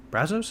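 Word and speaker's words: Brasso: Brazos, is that how you say his name?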